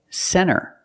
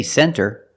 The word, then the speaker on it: center: first example is NT when you see NT a lot of times you don't hear the T example Center of course you can say center it's correct but a lot of Americans will pronounce it Center or this word 20